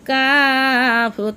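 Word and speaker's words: ك: নৌকার মতো দেখা যায় ডাইন মাথা উঁচু, মাঝখানে ফেসানো, তার নাম কাফ, তার নাম কাফ।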